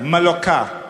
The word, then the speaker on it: Mallorca: A couple of years ago, we were on our way to Puerto Pollensa, Mallorca.